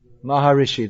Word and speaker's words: Maharishi: Maharishi, they pronounced it, is it?